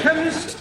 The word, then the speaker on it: chemist: me k e m chemist does not begin with a k it sounds like it begins with k CH H but that